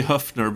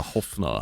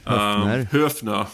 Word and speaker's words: Höfner: And yes, I say Höfner because I'm a language nerd, and that's how you pronounce it, because it's an Ö. It's not a Hofner. Yeah, exactly. Höfner is probably the closest approximation.